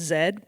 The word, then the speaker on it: Z: We called it ZMBB, which is hilarious because in Canada, um, Z is pronounced zed, but it was behind the Zeers parking lot.